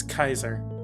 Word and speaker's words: Caesar: There's no soft C in Latin. Shut up. Claudius. How do you, what did I say? Kaiser?